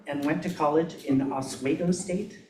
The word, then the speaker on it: Oswego: So John Kinnally was born in Syracuse, New York, and went to college in Oswego State. Am I pronouncing that correctly? Doesn't matter, but yes.